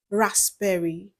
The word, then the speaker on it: raspberry: Letter P is silent in words like cupboard, raspberry, psychology, cool, sam.